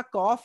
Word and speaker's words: calf: तो पहला वर्ड हमारा कॉफ है, तो इसमें L से पहले A आया है, देखिए CALF। That's why we should silent L। L को हम साइलेंट कर देंगे और कॉफ बोलेंगे। दूसरा ये सामन है जो